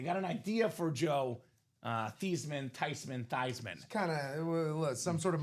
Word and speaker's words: Theismann: Changed the family pronunciation to Joe Theismann. Years later, they asked the grandma, were you mad that Joe changed his last name from Theismann to Theismann? She said, nope, I'm okay with it because technically it's pronounced Theismann. So the proper pronunciation is Joe Theismann here in the UA